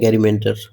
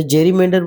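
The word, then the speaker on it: gerrymander: तरीके से कोई काम करना, उसको बोलते हैं गैरीमैंडर। क्या बोलते हैं उसको, गैरीमैंडर। अच्छा, जेरीमैंडर हम देखिए, गैरीमैंडर इसलिए याद रखते हैं, जेरीमैंडर याद रखते हैं, स्पेलिंग बड़ी जल्दी याद रहता है इसका।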